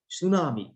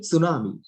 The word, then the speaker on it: tsunami: it tsunami. නැත්තම් tsunami. නැත්තම් කියන්නත් බෑ ඒක අහලට යන it tsunami. ඒක it tsunamiද? නෑ tsunami. T silent.